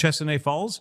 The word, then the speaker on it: Duchesnay: Duchesnay Falls?